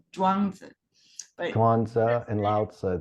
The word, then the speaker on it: Zhuangzi: I believe the name is Kwanzaa. It's written in English Chuang like Lao Tzu, but Okay, pronounced in Chinese Zhuangzi.